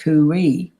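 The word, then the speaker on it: khuwi: and that spell k h u w i pronounced kuwi but in the translation of the egyptian it's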